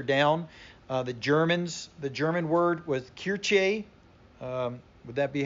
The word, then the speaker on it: Kirche: It kind of, you see a little bit further down, the German word was Kirche. Would that be how you pronounce that, Pastor? Kirche.